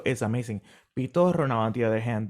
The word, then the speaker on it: Pitorro: Coquito? Or am I saying this what? Pitorro? Am I saying it right? Yep, you're saying them right.